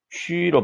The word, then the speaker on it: 去: 去, Q 뒤에 U 붙였는데 지난 시간에 했어요. JQXY, JQXY, Q죠. Q 뒤에 U가 들어가 있는 것은 점이 있는 U다. 그래서 위 발음을 한다고 선생님이 설명을 했었어요. 그래서 이것은 취로 발음을 하고 사성이니까 취, 你去哪儿?